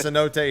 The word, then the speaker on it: Cenote: it for yourselves I mean it's pronounced Cenote here too but I'm calling it Cote cuz I'm here for my money home like